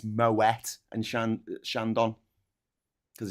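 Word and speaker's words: Moët: Who know that it's not moa and shandon champagne. It's moet and shandon because it's not a French word. It's not a French name. So you pronounce the T.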